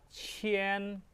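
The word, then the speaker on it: 前: Nah ketika kita melihat cian di sini itu bacaannya chien. Cien ingat setiap kita melihat kata ee k i a n itu dibaca chen.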